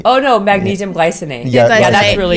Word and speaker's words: glycinate: glycinite. Oh no, magnesium glycinate.